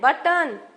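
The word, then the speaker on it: button: sign हम जी नहीं बोल रहे हैं आलैंड बटन डबल टी है बट एक टी साइलेंट है तो इस तरह से बोल्ड किया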